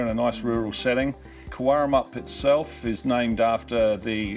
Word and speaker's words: Cowaramup: I was going to ask you, as an ignorant Eastern state person, exactly how to pronounce it. Right, so. yeah, Cowaramup, the small O in the logo.